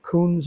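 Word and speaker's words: Kunz: this German brand uh Coons I believe is the kect pronunciation KU n z um they're not very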